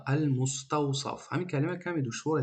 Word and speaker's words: المستوصف: المستوصف یعنی سین هسته بعد صاد هسته. خطا غم نده، این قرآن نیسته که ما هر یک چیکار کنیم حرف با تجوید بخونیم. نه، این خطا. این کتابی عادی های، این گفتگوی عادی های. شما میتونی همین ساده سین تلفظ کنی. بعضیا میگن اینقدر کلمه دشواره، المستوصف با صاد باید بگی. نه، میگیم عادی های. خطونه غم نتی، خطونه در دشواری دچار نکنی. میتونی سین بگی المستوصف.